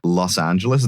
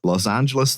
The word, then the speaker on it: Los Angeles: I'm used to like there's two ways of pronouncing it. One of them right, one of them wrong. Los Angeles, the way everyone who, you know, lives there pronounces it. or Los Angeles. Los Angeles, California. This guy fully just like removes a syllable.